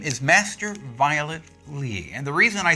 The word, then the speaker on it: Violet Li: Her name is Master Violet Lee.